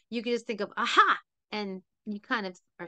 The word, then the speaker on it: Achaiah: The way to say this name is Aha'a. Achaiah. So you can just think of aha, and you kind of are saying the name of the angel.